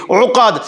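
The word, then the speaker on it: عقد: Nafa নাফাসাতি feel উকাদ, এই আইন দিয়ে বলতে হবে উকাদ।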